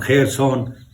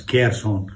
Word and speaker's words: Kherson: The city is called Kherson, pronounced by the Western world as Kherson. They cannot pronounce Kha.